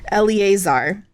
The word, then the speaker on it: Eleazar: And so in the pre-show, I actually looked it up, the how to pronounce on YouTube, and I had it, and then I lost it. Eleazar.